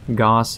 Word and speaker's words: Gauss: starting LMG, the NC6 Gauss saw. And also, just so everybody knows, I will intentionally be pronouncing the word Gauss incorrectly throughout the entirety of the video. I believe it's actually pronounced Gauss.